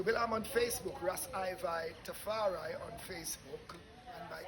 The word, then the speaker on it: IVi: Ras IVi Tafari. Can you spell it? R-A-S Ras, IVi as in Levi.